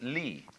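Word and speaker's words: 理: They pronounce it lee.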